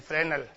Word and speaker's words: Fresnel: Spelling फ्रेस्नेल होती है, FRESNEL, फ्रेनेल।